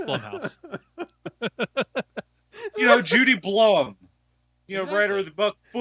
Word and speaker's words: Blum: Or trying to figure out how to pronounce Jason Blum's name. Blumhouse. B-L-U-M.